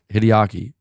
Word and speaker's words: Hideaki: what they're working on am I saying his name wrong Hanzo you're saying hi hiaki hi hi hideaki oh is that how you wait hold on